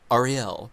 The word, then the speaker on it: Ariel: Ariel, and it's like the accent is on the last syllable, isn't it? Ariel or something like that.